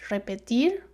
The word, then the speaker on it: repetir: So if it is at the beginning of the word, it's like the tongue is moving several times.